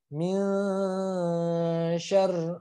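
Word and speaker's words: من شر: Ya, ikhfa itu mengandung dengung. Jadi harus ditahan. Min syarr. Nah, min sya. Nah, min ditahan.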